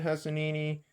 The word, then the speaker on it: Hosseini: In The Kite Runner, Khaled Hosseini gives us a vivid, engaging story that reminds